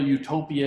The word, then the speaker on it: Utopia: In English, pronunciation is exactly the same as the Greek word utopia with an E, which means good place, which conjures other kinds of images, a kind of Edenic paradise.